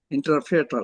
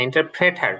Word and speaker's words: interpreter: হি ইজ এ ইন্টারপ্রিয়েটর স্যার। হ্যাঁ, ইন্টারপ্রেটার, প্রিয়টর না প্রেটার, পিআরই টিআর হয়তো বানানটা।